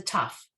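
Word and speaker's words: תו: 17 here's that letter this letter is a tough and just sounds like a t and again in modern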